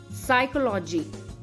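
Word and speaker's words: psychology: किया जाता है जैसे साइकोलॉजी pneumonia Raspberry pseudo podia and cupboard साइकोलॉजी में पी तो है पर साइलेंट है निमोनिया में भी पी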